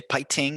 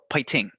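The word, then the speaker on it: 화이팅: but yeah anyways uh you can say pai ting or just fighting and they'll know what you mean although if you over pronounce that f they're not going to know what you mean they'll say what and you're like oh pie ting so it's like a in between a p and an f which makes words hard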